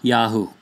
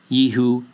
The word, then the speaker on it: Yahu: They are Yahu, not Yehu, not Yeho, or anything else.